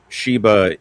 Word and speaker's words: Sheba: And if you are familiar with the Queen of Sheba, Sheba is the Hebrew pronunciation of Saba.